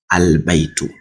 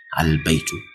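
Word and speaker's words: البيت: what say Kamar why because the L IS NOT silent is head in pronunciation that's why I said albaitu albait you can hear the L right albaitu so the B the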